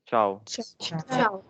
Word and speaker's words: ciao: CH is sure and TCH is sure just like when you say ketchup ketchup Michalka sound right so this should be ciao this is an informal